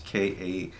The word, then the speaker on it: Kattey: Archbishop Katay, and that's the best we have for his pronunciation, it's Kattey, was kidnapped on a drive home, or he was out driving with his wife last Friday.